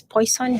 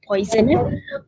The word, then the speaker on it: Poisson: is poisson distribution so this is actually a french word so if you want to pronounce this french way it's actually poisson distribution